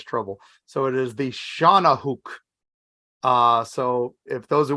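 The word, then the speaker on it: Shawnahooc: get in serious trouble so it is the Shauna hook uh so if those who want to know how to spell that it's s-h-a-w-n-a-h-o-o-c Shana Hook is how it was pronounced to me which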